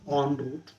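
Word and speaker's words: en route: an asham halfway on on root e n r o u t n root on root that's how it is pronounced so please my dear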